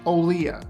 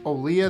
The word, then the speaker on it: Olija: i know it's spelled elijah but it's olea the game is pronounced olea this is one of the last things i